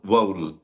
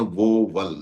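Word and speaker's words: vowel: आप इसमें दो सिलेबल बना रहे हैं वोवल सर ये वोवल नहीं होता है ये वोवेल होता है।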